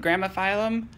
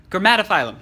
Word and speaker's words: Grammatophyllum: As you know, I have I can't remember how to say it. Gramophyllum? Grammatophyllum. Sorry.